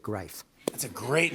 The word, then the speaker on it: Grief: His name was Erwin Greif, spelled Grief, but he pronounced it Greif.